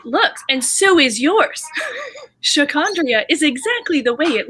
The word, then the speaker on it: Sha'Condria: And as much as it might not seem, given that my name is pronounced exactly the way it's spelled, people have mispronounced my name since I was little, like elementary school.